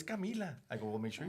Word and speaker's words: Kamila: They always call her Kama. And she goes, "Papy, I always get my name wrong." And I go, "Cuz I guess there they say Bea and they say Kama." But she goes, "But it's Camila."